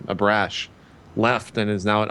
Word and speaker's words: Abrash: The head VR guy at Valve, Michael Abash, I think is how you say his last name, Abrash, left and is now at Oculus VR.